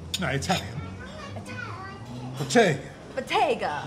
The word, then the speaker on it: Bottega: I've already forgot to have how to pronounce it. Bottega. No, Italian. Bottega. Bottega.